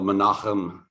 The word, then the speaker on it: Menachem: I was young, until Menachem Begin became president of Israel. And I learned that word is pronounced Menachem. So that's the way you really should say it.